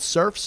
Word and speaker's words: Cerphe: a minute uh check it out it's called surfs up it's spelt c-e-r-p-h-e a musical life with bruce springsteen